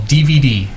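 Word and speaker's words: DeVeDe: It's called DVD, and it's spelled a little odd. D-E-V-E-D-E.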